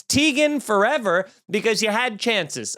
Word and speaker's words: Teigen: account i'll tell everybody they've been saying my name wrong the whole time chrissy teigen did it she's like it's actually tigen and guess what you no it's not it is it's tegan forever